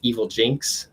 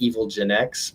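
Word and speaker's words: Evilginx: engineering tools and it's evil jinx it looks like evil Gen X but it is pronounced evil Jinx that is how the Creator uh pronounces it but it's proxy based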